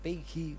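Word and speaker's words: Peggy: seorang gadis namanya P pegi pegi bacanya pegi Winter umur 17 tahun Dia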